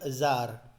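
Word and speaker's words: tsar: इसमें वैसे जो इसको जार बोलते हैं, टी साइलेंट होता है, वैसे मैंने बोल दिया तजार, इट is known as जार, T silent होता है।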